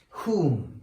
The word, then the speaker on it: whom: so it's who and whom okay so here w letter is silent okay very nice meaning we don't pronounce the w letter okay okay okay now